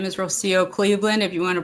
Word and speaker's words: Rocío: So, my name is Rosio Cleveland. If you want to pronounce it in Spanish, it's Rosio.